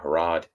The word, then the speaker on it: Harrod: If you're listening to it, it's just Pennsylvania without the pen, Harrod like Harrods of London, and we're good to go.